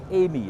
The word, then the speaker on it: Aime: how about this then this is the Audi Amy it's spelled a IM e it's another concept car